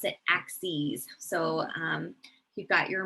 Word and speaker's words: axes: you actually pronounce it axes so um you've got your multiple plural form of axis of your x and y axes that you pronounce it with a long e at the end um so our x-axis